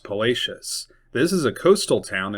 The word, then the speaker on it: Palacios: It looks like Palacios, but it is pronounced Palacius.